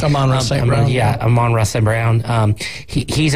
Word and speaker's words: Amon-Ra St. Brown: And it's awesome when, was it Amon St. Brown? Is that how it's said? Amon-Ra St. Brown.